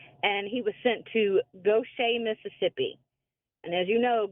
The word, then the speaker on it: Gautier: My husband was from Michigan, and he was sent to Gaucher, Mississippi. And as you know, Gaucher is not spelled Gaucher. It's spelled Gautier.